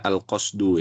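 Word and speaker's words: القصد: Ya, nahwu itu maknanya al-qasdu. Ya, di sini ya. Satu. Yang kedua, nahwu juga bisa maknanya al-mithlu. Ini bacanya al-qasdu ya. Boleh antum harokati.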